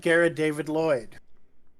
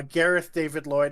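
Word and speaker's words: Gareth David-Lloyd: that right I uh Gareth David Lloyd if that's not what I said I've I feel like I've heard myself put an extra D in there foreign so those are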